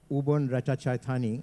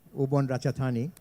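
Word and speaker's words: Ubon Ratchathani: in this area called uban rachani I don't know how to pronounce it correctly yeah ubon ratchatani it's 2.3% of the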